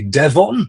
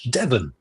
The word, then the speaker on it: Devon: We don't say Devon, we say Devon.